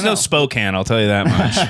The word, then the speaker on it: Spokane: Hill he dies on he's always correcting no spoke Spokane and they're like I